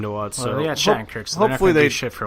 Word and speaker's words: Shattenkirk: How do you pronounce Shattenkirk's name? Huh? How do you pronounce Shattenkirk's name? Shatternick. It's Shattenkirk.